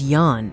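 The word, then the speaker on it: よん: Four becomes yon instead of the dreaded shi.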